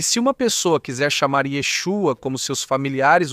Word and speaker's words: Yeshu: É verdade que se você pronunciar a letra Aim no final, deveria ser dito assim mesmo. Mas se você fosse um Galileu vivendo no bairro de Yeshua, crescendo com ele desde criança, você diria Yesu? Porque era assim que os galus falavam? Eles não pronunciavam a letra Aim, eles não a diziam. Então, na pronúncia Galileia não se falava assim.